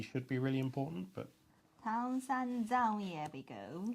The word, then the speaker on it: Tang: It's not tongue. It's tan. Tang. Right? Zhang. Is exactly the same Tan sound.